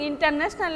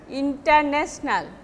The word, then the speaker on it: international: International, polysyllabic. Here stress will be national, international. Actually, when you are using stress, your sentence will be exactly like Englishman, then it won't seems unnatural. Suppose in our Benglish way, you are pronouncing international like international, but it will be international.